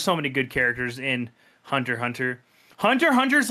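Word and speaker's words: Hunter × Hunter: the kids call it Hunter x Hunter yes hun you it's Hunter Hunter you don't pronounce the X I knew that was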